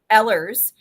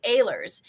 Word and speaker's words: Ehlers: Mike's last name is spelled Ehlers. And so I said, is it Ehlers? And he said, no, it's actually Ehlers, but I'll answer to anything.